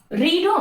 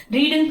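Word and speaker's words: read: V1 மட்டும் தான் நீங்க ரீடா ப்ரொனவுன்ஸ் பண்ணுவீங்க. இது ரெண்டுமே ரெட் கலர் எப்படி ப்ரொனவுன்ஸ் பண்றீங்க? ரெட்டா ப்ரொனவுன்ஸ் பண்ணணும், ரீடுன்னு ப்ரொனவுன்ஸ் பண்ணக்கூடாது. V2, V3 வந்துச்சுன்னா நீங்க ரெட்னு ப்ரொனவுன்ஸ் பண்ணணும்.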